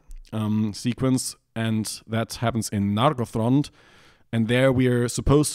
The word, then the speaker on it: Nargothrond: And if you ask the tool, where does the stress go in Imladris or Nargothrond, it tells you it's supposed to be Imladris and Nargothrond, because that's what Appendix E says.